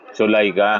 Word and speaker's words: Zuleika: Ah attorney how do you pronounce? Zola. Sulaika.